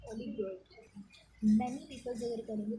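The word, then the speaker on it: oligarchy: अगर few peoples करेंगे तो एरिस्टोक्रेसी, और इसको ओलिगार्की, ओलिगार्की, ओलिगार्की इसको ऐसे प्रोनाउंस करेंगे, ओलिगार्की।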